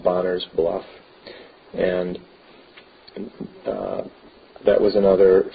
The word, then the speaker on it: Bonner: To the west of Sloptown Road on Lake Michigan is an area called Bonner's Bluff. And that was another family, John Bonner, who actually, his name would have been pronounced Bonar in Gaelic.